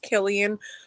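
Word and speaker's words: Cillian: villain in comic book I heard his name is pronounced Killian but if he's doing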